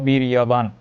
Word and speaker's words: বীর্যবান: এরপরে আছে বীর্যবান, এখানে আমরা বলবো বীর্যবান, 29 যে উচ্চারণ ইয়, তাহলে আমরা বলবো বীর্যবান।